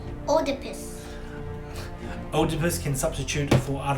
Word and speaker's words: Oedipus: Oedipus versus Sphinx.